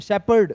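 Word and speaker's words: shepherd: Next शेपर्ड। क्या बोलते हैं इसको? शेपर्ड। प का साउंड आता है। फ का नहीं आता है ना? शेपर्ड। क्या बोलेंगे इसको? शेपर्ड। एच साइलेंट है यहां पर तो शेपस यानी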